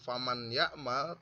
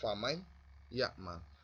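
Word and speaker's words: فَمَنْ يَعْمَلْ: Jadi cara membacanya bukan faman ya'mal, tapi masuk famay ya'mal. Meskipun ya-nya ini tidak bertasjid, ini harus tetap dibaca famay ya'mal, karena hukumnya adalah idhom bihun.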